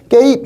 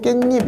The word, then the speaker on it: 깻잎: 그럼 발음해보면 깨입 이렇지 않고 깻잎 이랬죠.